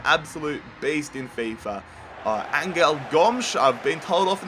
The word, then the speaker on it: Gomes: I used to call him Gomez, but I've been told by my Portuguese subscribers that he's pronounced Gomes, so he's being called Gomes in this series.